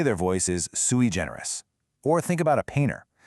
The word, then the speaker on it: sui generis: And its partner word is sui generis. Let's get the pronunciation right.